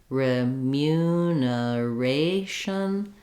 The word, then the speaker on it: remuneration: can help you here if you start on a or ration remuneration that can help you